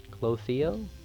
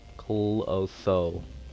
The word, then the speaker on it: Clotho: Clothio? C-L-O-T-H-O, so Clotho. Clotho? Clotho. I've been saying it wrong this whole time?